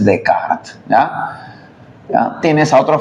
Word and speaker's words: Descartes: a poner Descartes no Descartes se escribe sí Descartes en francés Es decart ya ya tienes a